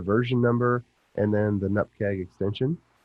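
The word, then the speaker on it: nupkg: number, and then the nupkeg extension. That's how you say it, nupkeg.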